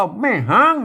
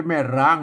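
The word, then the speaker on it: แม่ฮ้าง: ถ อ อัน นี้ อ่าน ว่า แม่ ฮ้าง นะ ครับ แม่ ฮ้าง เออ ไม่ ใช่ แม่ ร้าง นะ ครับ เออ บอก อ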